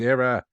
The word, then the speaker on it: era: It's pronounced era.